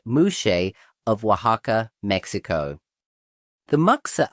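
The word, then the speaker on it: muxe: The mukes, pronounced mush of Wajaka, Mexico.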